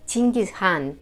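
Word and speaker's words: Чингис хаан: Por cierto, el apelativo por el que todos lo conocemos, Gengis Khan, en realidad en mongol se pronunciaría algo así como Chingis Khan, pero en este vídeo hemos optado por pronunciarlo del modo más popular en castellano.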